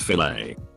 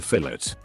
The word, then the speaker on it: filet: She means the fillet. Obviously. Ha ha ha. Then he wouldn't shut up about it. I was like, it's French. The et sound is pronounced a, but he wasn't having it.